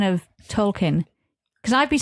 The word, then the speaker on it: Tolkien: It's more Tolkien, though. Keen. She's saying keen.